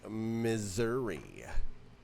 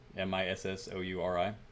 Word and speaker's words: Missouri: lined up first one is going to be Missouri Missour mour as the F from round a say mour which I don't mour how would you even spell that m i SS o u r i Mur no what m Missouri you you're up